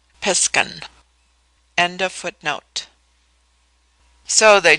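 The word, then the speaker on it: Piskun: Pronounced Piskan.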